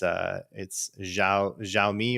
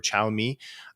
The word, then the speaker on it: Xiaomi: So like Huawei and ZTE, and how do you pronounce it? It's Xiaomi or Xiaomi, which is another technology provider that was trying to import products into the United States.